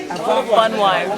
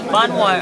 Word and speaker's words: Bonwire: in a k v a k weaving Village pronounce the name b Bon wire Bon wire okay yes Bon wire now are you excited about shopping today I'm